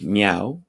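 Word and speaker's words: MEAW: Now there's this newsroom called, and you pronounce it as Meow, Media Entertainment Arts Worldwide.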